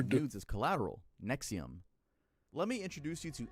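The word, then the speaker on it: NXIVM: I know this to NXVM pronounced Nexium.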